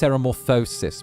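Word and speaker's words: ceremorphosis: It's pronounced ceramorphosis, my good sir.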